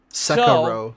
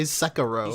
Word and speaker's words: Sekiro: Sekiro. Remember Sekiro? I need your feedback. What do we do about this whole JRPG? He got bullied into saying Sekiro because he would say Sekiro.